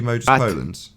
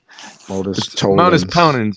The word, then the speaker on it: modus ponens: Trying to do modus polens. How do you say it? Modus polens? Is that right? Modus ponens.